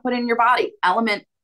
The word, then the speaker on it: LMNT: Element makes a really good one. It's LMNT.